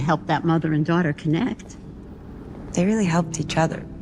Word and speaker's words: connect: want to say connect they want to drop that t connect all right but here it's pronounced connect you pronounce both the K and the T sometimes you can drop